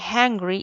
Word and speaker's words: hungry: Hay muchas diferencias en esas palabras, pero como se escriben, pero se pronuncian casi igual, solo que hungry es con H, ¿cierto? Con H, que no va silenciada, y angry es sin H y empieza con A, ¿ya?